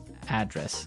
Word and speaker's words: address: live Y and there the stress is on the first syllable address right perfect very good